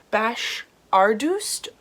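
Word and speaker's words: Bashardoust: serpent thorne by melissa i believe it's pronounced bash ardust um i'm so sorry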